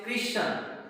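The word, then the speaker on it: christen: उसी प्रकार से क्रिश्चियन, इसमें भी देखो क्रिश्चियन, यहाँ पर भी टी साइलेंट है।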